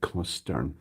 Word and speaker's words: Costin: It's pronounced like Costern.